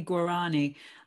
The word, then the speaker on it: Guarani: and pronounce it properly sometimes i say guarani like depends on it's a bit like bath and bath i very much go sort of one or the other on that yeah so